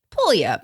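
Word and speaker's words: Puyallup: the next one is this one is pull you up like pull you up a chair so I actually thought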